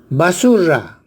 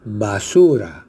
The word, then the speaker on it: basura: Basurra. Basurra es un regionalismo de la ceja de selva o la selva. Basurra. Se dice basura. Adición de consonante R.